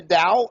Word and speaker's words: Tao: the Tao of Dentistry know me down the Dow it's pronounced Dow it's pronounced down yeah not like